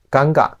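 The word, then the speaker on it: गंगा: 中，恒河的发音是尴尬。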